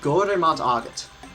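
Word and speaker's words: go raibh maith agat: It's Gore mat agat. It's 4 words. 4 words to say thank you. That's double. It's go, re, but it's spelled R-A-I-B-H.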